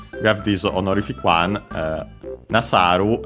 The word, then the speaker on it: nasaru: Suru, unaccented, to do, the most common form, but yeah, we have this honorific one, nasaru, I think accented, yes, accented.